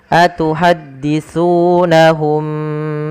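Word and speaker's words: أَتُحَدِّثُونَهُمْ: Dan su, maaf, su jangan dibaca dengan su, ya, jangan dibaca dengan su, karena di sini bukan huruf sin, atau misalnya atuhadditsu, atau bahkan diganti dengan huruf shin.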